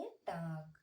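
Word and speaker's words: talk: एल की क्या हो गया, अब हम इसे क्या पढ़ेंगे, टाक।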